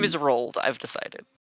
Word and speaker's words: Roald: So His name is Rolled. I've decided. Not a How traditional goblin name. do you spell it?